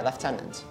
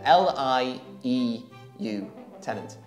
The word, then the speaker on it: lieutenant: it's pronounced but yeah lieutenant l e l i e u tenant yeah there's no f what we say lieutenant okay and then come